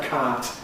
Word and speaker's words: cart: So, a cat is an animal and a cat is a vehicle.